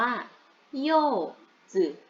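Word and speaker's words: 柚子: ญ สื่อ นะ คะ Z i5 ปกติ ตัว I มัน คือ สระ อี แต่ ถ้า มัน อยู่ กับ พวก เจอ ชื่อ ๆ หรือ ตัว Z ตัว S ตัว อะไร เนี่ย มัน จะ เป็น สระ อือ หรือ อีก คำนึง คือ สระ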